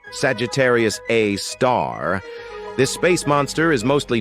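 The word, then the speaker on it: Sagittarius A*: we've got Sagittarius A which is pronounced Sagittarius A star this space monster is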